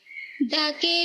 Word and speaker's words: the: এর উচ্চারণ, vowel beginning word, যে ওয়ার্ডগুলি ভাওয়েল দিয়ে শুরু হয় সেই ওয়ার্ডগুলিতে আমরা দি উচ্চারণ করব।